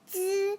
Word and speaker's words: 隻: Unit for a bird or owl pronounced zi.